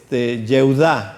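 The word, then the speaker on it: יהודה: Por ejemplo, José, que también se escribe con yud, se dice Yosef en hebreo. Judá, Yehudá se dice en hebreo, y así sucesivamente.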